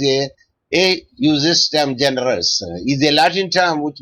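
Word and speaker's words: ejusdem generis: So ejustem generis pronounced as a justem generis is a Latin term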